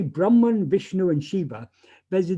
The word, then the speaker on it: Brahma: brahma vishnu and shiva brahma uh is uh the the creator vishnu is the sustainer and shira is the destroyer um the brahma with a long a that is a a a masculine noun brahman with a ending